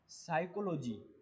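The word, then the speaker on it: psychology: पर लिखा हुआ है साइकोलॉजी, साइकोलॉजी, साइकोलॉजी, लेकिन इसमें पी साइलेंट है।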